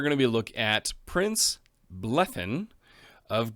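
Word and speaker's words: Bleddyn: to look at prince blethen of gwyneth that's right i read and see how to pronounce the double d and apparently it's a th so if that's wrong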